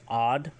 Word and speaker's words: ad: We've got daughter or son, which is Ad, AD, used to address or when speaking of one's youngling slash foundling.